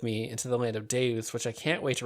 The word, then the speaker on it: Deus: Well, thank you for taking the journey with me into the land of Deus, which I can't wait to return to. Yes. Thank you for showing me Deus.